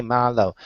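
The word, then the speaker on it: 말로: Say it is like Malo hey Malo RH that rhymes with follow the English word follow so and then they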